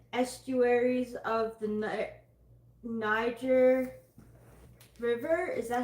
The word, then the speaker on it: Niger: She is known as the mother of nine for the 9 estuaries of the Niger River.